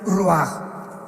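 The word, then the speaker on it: רוח: parte espiritual que es la palabra rua que se pronuncia roaj.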